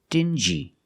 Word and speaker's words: dingy: they're pronounced differently example dingy and stingy these two words have the regular n Sound plus the J like juice together stin G together stingy or din G together dingy this wall is very dingy